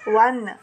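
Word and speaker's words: one: ಇದೆ ನೀವ್ಯಾಕೆ ಎ ಹಚ್ಚಿದ್ದೀರಾ ಒನ್ ಉಚ್ಚಾರ ಏನ್ ಬರ್ತಾ ಇದೆ ವ ಬರ್ತಾ ಇದೆ ಇ ಬರ್ತಾ ಇಲ್ಲ ಇಲ್ಲಿ ಹೌದಾ ಉಚ್ಚಾರ ವಾಯ್ಸ್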